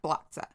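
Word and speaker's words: Blatce: Blatza. Okay. It's B L A T C E but it's pronounced Blatza within the Libra region.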